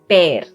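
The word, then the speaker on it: पैर: Okay, so it's called pair. Pair. Like the English word pair, pair. That's the same pronunciation.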